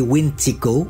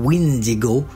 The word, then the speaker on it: Wendigo: de la psychose du Wendigo le Wendigo parfois prononcé wintico ou Windigo est un esprit malveillant